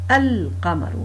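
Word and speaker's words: القمر: il devient déterminé et la prononciation de ce mot c'est alqamar donc vous voyez bien qu'on prononce le l'EM qui compose donc le l FO Lem et on a mis un secoun sur ce Lem et du coup la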